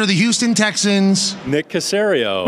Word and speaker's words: Caserio: the general manager of the Houston Texans Nick cerio C Caserio Tom Brady said sario he doesn't know yeah